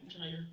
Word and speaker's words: Zire: Is there any reason why is it Zier? Am I saying it right? Zire.